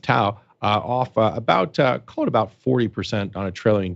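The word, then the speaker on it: TAO: So let's talk about the token you mentioned there, Bittensor, T-A-O, I guess it's pronounced Tau, about 40% on a trailing 12-month basis.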